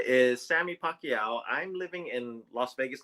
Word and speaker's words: Pacyau: And yes, it's pronounced Pacquiao just like the boxer Manny Pacquiao.